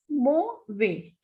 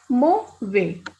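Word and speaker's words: mauvais: you earlier also that whenever S is at the end, it is a muted consonant, so we will not pronounce it. The pronunciation is mo way.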